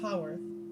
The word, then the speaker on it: Haworth: Haworth, not Hayworth. It's pronounced Haworth, Hawotrh.